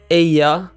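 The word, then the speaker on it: ella: Aya mean means she Aya in most accents the Double L Sound is pronounced like the y in the word yellow Spanish doesn't have a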